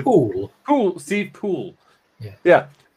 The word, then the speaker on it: Poole: It's Poole.